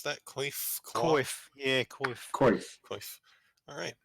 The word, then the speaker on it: Coif: How do you pronounce that? Coif? Coif.